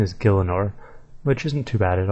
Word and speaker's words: Gielinor: I actually never really said it, actually I always just said RuneScape, but the correct pronunciation is Gielinor, which isn't too bad at all really.